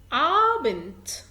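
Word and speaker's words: Abend: هونت، انت سامع ت ولكن هي مكتوبة دي. هونت عابنت.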